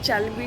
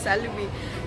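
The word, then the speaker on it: Çelebi: इट इज अ सेलबी सो I will tell you one thing that चैलबी चैलबी वाज़ a Turkish company and in Turkish you कैन सी लॉट इन सी सो in Turkish they pronounce चैलबी that's why वी are just pronouncing चैलबी इन our training our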